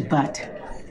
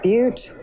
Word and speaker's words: butte: I like a ticket to butt. I believe it's pronounced butte.